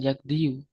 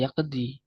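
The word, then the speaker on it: يقضي: bukan yakdi tapi yakdiyu sedangkan orang Arab itu bacanya bukan yakdiyu yaakdi ya yaqdi yaqdi ya yaqdi kecuali kalau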